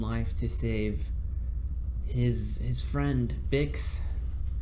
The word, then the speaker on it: Bix: He's risking his own life to save his friend Bix, Bix. I thought it was Biggs, for they say it like Biggs for a while.